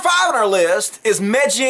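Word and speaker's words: Megyn: on our list is meggy and Kelly yeah I know that's how you pronounce her name but I refuse to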